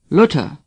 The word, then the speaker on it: Luther: Luther say Martin Luther th is pronounced like T the U is short as in Dortmund lota say luta for von Richtofen say